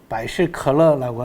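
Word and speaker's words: 百事可乐: 만 가지 모든 일이 다 즐겁게 잘 됐으면 좋겠다라고 하는 바이실컬러라고 하는 발음도 비슷하죠. 그죠? 펩시콜라.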